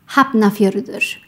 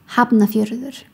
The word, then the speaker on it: Hafnarfjörður: Sometimes when F and N are together, they are pronounced like BN, like hafnar, hafnar. Another letter is Ö. This letter is not used in English and is pronounced Ugh. So just think of the noise you make when you want to throw up, like ugh, ugh, ugh. So the pronunciation of this word is Hafnarfjörður.